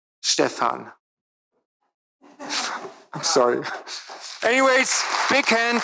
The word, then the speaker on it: Stephan: our speaker Dr Stefan was that better it's the the in German the second syllable is long so stean I'm sorry anyways big